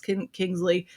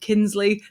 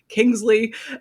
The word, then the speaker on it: Kingsley: of Dust by Alex Kingsley. I nearly said Kinsley. That's not your name, Kingsley.